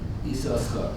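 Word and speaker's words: יששכר: The question, what's the correct pronunciation? So his practice was to pronounce it Esau Schar.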